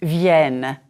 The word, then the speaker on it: vienne: The third person plural of venir is vienne. Note the double N. This double N denasalizes the vowel. It is the vowel E that you practiced in lecture 5.